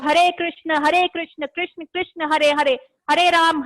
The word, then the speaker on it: कृष्ण: ठीक है, और आपने जो प्रोनाउंस करना है वो है हरे कृष्ण, कृष्णा नहीं है, कृष्णा। लोग करते हैं हरे कृष्णा, आपने ये नहीं करना, आपने करना कृष्णा का मतलब हो जाता है संस्कृत में कृष्ण का।